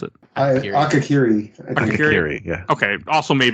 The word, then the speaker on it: Akakiri: And that brings us to our last episode of season 1 is Akahari? I can't pronounce it. Akakiri.